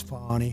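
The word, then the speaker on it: Fani: treated you very unfairly she goes by the name of Fon even though it's f a n i she wants to pronounce fonnie she's little little French French and her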